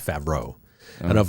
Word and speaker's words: Favreau: So is it pronounced Favreau or Favreau? Jon Favreau.